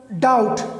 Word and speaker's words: doubt: इसी तरह doubt, D-O-U-B-T, D-O-U-B-T, D-O-U-B-T. So now B is before T, so here the B is silent.